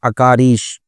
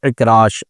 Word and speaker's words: عکراش: تو اکاریش تلفظ کے ساتھ نام درست نہیں ہے، اس کا صحیح تلفظ ہے اکراش، عین کے ساتھ، عین کاف را الف شین، اکراش۔ اور اکراش کا مطلب